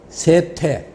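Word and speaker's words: 說: 그래서 설명한다 할 때 그 설자 있잖아요. 말씀 설자. 그게 남들한테 대중적으로 할 때는 세라고 읽어요.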